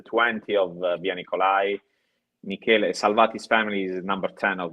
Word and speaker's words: Salvati: I didn't get a chance to ask about your partner, Michele Salvati.